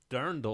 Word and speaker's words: dirndl: slash drendel drag the durin how do you pronounce that oh it's dirndl no that's what brendan's saying dirndl not i'm